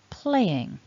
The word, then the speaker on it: playing: Anyway, back to this list, we've got then continuous playing. Here it becomes a two-syllable word, and what you want to do is stress the first syllable. So that play should be stronger than the ing.